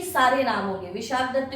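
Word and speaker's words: विशाखदत्त: फिर है मुद्रा राक्षस, इसके लेखक हैं विशाख दत्त, विशाखा दत्त भी सही है, स्पेलिंग बस ए लगा हुआ है, कोई ऐसी प्रॉब्लम नहीं है प्रोनाउंसिएशन में, और बहुत इजी तरीके से याद कर सकते हैं।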